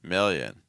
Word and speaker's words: million: For that mill sound again, it's like ill, mill. Make sure that that M is not impacting your vowel. So it's not meal. It's not million. It's million. Hear a difference?